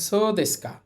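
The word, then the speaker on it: そうですか: মাছ তারপর আছে দেখেন সদেসকা স উচ্চারণ হবে না ও এর পরে উ থাকলে উচ্চারণ হয় না এরপর আছেকা সদেসকা সদেসকা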